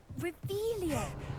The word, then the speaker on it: Revelio: Ugh, Revelio.